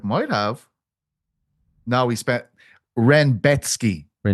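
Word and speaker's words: Rębecki: Oh, Renbecki apparently. Yeah, but they call him Rexki on the broadcast. I had to tell I had to get onto a Polish speaker to ask him how to say it because Oh, did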